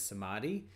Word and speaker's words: samadhi: pronounce it but my I've heard it as samadhi and it is um